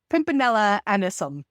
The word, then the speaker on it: Pimpinella anisum: I'm saying that name wrong. Pimpinella anisum, I believe, is what it is.